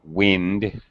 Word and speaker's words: wind: here gone with the wind as a noun wind it's pronounced with a short eye wind the wind is blowing through my hair the